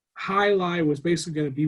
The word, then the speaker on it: jai alai: So Jai Alai, however you want to say, the way you actually pronounce it is Jai Alai.